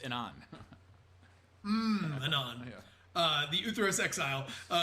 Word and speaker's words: Memnon: The last gold card is Memnon. Good luck. Memnon. Sure. Yeah. Sure. The Uthros Exile. I think the MMM is silent. It's just Anon.